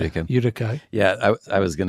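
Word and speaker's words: Utica: kind of near like how do you say Utika a how do you pronounce Udica yeah I I was going to guess that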